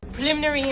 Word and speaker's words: preliminary: When you pronounce this word, the stress is on the second syllable.